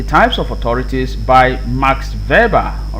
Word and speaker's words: Weber: of authorities by max weber all right by max weber this name is pronounced verba all right verba like this verbal okay not weber not max weber you